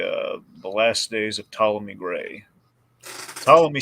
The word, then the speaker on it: Ptolemy: the last days of Ptolemy Gray follow me spelled with a p like pathology like like the Greek like the Greek one yeah exactly so uh